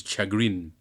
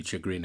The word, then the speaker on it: chagrin: It's pronounced chagrin. Oh, that's just a Ponzi way of pronouncing it. Where I come from, we pronounce it chagrin. Sounds more Klingon that way.